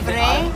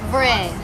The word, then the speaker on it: vrai: You don't pronounce the S on the end, right?